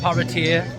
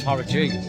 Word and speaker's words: Paraty: here we are in Paraty, not Paraty, not Paraty, it's Paraty. Paraty. And that's how you say it. That's how Dan says it. That's how you're supposed to say it, Paraty.